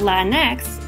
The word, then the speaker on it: Latinx: is pronounced latin x a pronunciation that doesn't exist in spanish ironically the spanish pronunciation